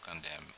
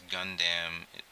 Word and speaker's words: Gundam: I'm curious to know why you pronounce gunam the way you do gun Dam I don't know just comes out like that I know it's supposed to be Gundam but uh hey I